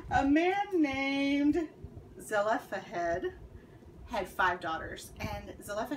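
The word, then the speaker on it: Zelophehad: man named man i just looked up this pronunciation a man named zella fahed had five daughters and zelena had passed away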